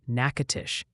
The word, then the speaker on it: Natchitoches: Multiple people insist Natchitoches is pronounced Natchitoches, and please, for the love of weather, it's Shaker Heights, Ohio, like a salt shaker, not a shark attack.